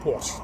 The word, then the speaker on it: Porsche: I don't call it Porsche, I call it Porsche. That's how I pronounce it.